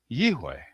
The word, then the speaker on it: יהוה: So, in my opinion, the pronunciation of the name Yode Vave is Yiwe. I should point out why I use the W rather than a V for the letter vav.